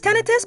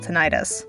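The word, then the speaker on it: tinnitus: Does everyone know it's tenitus? Because I've only heard people call tonitis.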